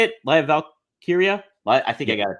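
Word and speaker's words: Lyra Valkyria: we also had another uh someone debuting is liar valkar how do you say it liar Val Kira I think I got it that time yeah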